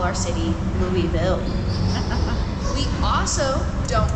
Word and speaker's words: Louisville: And the way you get this pronunciation, I tell people you gotta say it kind of like you have a mouthful of marshmallows and you're trying to swallow them about halfway through.